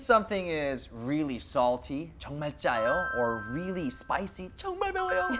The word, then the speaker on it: 짜요: 짜요. It's like a J sound, but it is two J's. So it's 짜요. Oh, 짜요. 정말 짜요. Since something is really salty, 정말 짜요, or really spicy, 정말 매워요, or really sour, 정말 쉬어요.